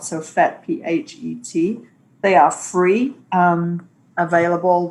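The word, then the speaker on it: PhET: I'll type that in the chat so people can see how that's spelled. So Fet, P-H-E-T.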